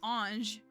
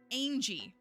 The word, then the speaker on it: ange: Because, you know, like, what do you mean you called the word ange Angie? You made it 2 syllables. I don't know why anybody would think that word was 2 syllables.